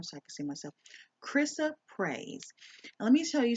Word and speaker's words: Chrysoprase: Chrysoprase. Chrysoprase is what this is called. Now, let me pull up my camera so I can see myself. Chrysoprase.